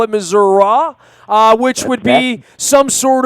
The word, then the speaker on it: Missouri: It's Missouri when you're in that half of the state. It's Missouri when you're in the Kansas City half of the state.